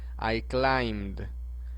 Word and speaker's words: climbed: Z, la ED solamente, de la terminación ED solamente suena la letra D. Entonces este se pronunciaría de la siguiente manera. I climbed.